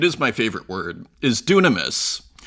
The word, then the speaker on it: δύναμις: my favorite word is dunamis d y n a m i s he pronounced the Y like a u sometimes uh dunamis and it has three